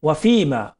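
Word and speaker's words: وفيما: এটা আসলে কি না, এটা হলো ফি, জি ওয়াফিমা, ওয়াফিমা বাদাল মাউত, আল্লাহুম্মা বারিক লানা ফিল মাউত ওয়াফিমা, ওয়াফিমা ওটা এফ এর উচ্চারণ হবে, জি এফ এর উচ্চারণ হবে, ওয়াফিমা বাদাল মাউত।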